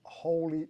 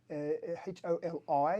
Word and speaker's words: Holi: Well, it was the Holy Mela Festival. Thank you. And that's right, Happy Holi, Holi is how it's spelled.